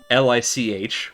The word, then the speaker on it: lich: And I'm like, okay, well, the leak casts a high-level fireball at you. And they're like, wait, what? Because apparently in British English, L-I-C-H, what we in America call a lich, is pronounced leak.